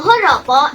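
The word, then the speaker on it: joropo: venezuela called paropo now horopo is spelled with a j in spanish the j is pronounced with the ha sound this one style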